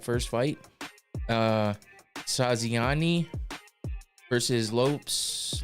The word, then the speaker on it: Lopes: fight uh saani versus Lopes Lopez I think it is because if he's like Diego Lopez it's Lopez just spelled with an S uh light heavyweight division